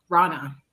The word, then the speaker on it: Rana: say it wrong and it's reina rana rana oh my apologies yeah so um okay